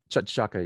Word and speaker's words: T'Chaka: name, Akaka, yeah, T'Chaka.